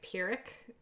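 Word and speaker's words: Pyrrhic: I think it's purick is how you say that.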